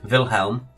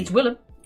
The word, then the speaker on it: Willem: Wilhelm. No. Willem. No, it's not Willem. The W is pronounced as a V. It's Willem.